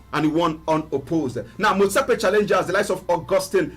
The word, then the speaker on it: Motsepe: That T is silent. Motsepe, if you want to pronounce them, but it is Motsepe when you want to write them out. M-O-T-S-E-P-E. But to pronounce them, now Motsepe, that's M-O-S-A-S-A-Y. Yes, and then P-A-Y, Motsepe.